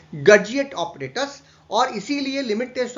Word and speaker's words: Gutzeit: इस ऑपरेटर्स को, जो एक इस तरीके का ऑपरेटर्स होता है, इसे हम लोग कहते हैं गर्जिएट ऑपरेटर्स और इसीलिए लिमिट टेस्ट ऑफ आर्सेनिक को हम गर्जिएट टेस्ट के नाम से भी जानते हैं।